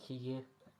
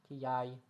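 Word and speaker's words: Kiyi: I think it's like Kiye. Kiyai. Something like that.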